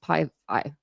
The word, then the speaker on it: Pi Phi: The slip of paper in Maddie's envelope tells her she's been picked by Pi Beta Phi, known as Pi Phi, pronounced Pi Phi, a perfectly respectable sorority, but not generally considered a top house on campus.